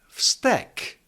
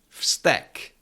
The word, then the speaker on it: vztek: However, if you have stack stack, now you probably can hear that I am not saying v. But stack because the last out of those three consonants is t and t is unvoiced. V and z actually become their unvoiced counterparts. So it is not vte but stack.